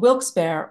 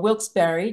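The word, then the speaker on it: Wilkes-Barre: northeastern corner of Pennsylvania the closest city is called wils bear or wils Berry depending on the pronunciation you like and it's named for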